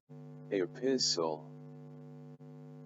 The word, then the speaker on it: epistle: So quickly, let's move on to some of the examples where S, T, L, E are present and then they are silent.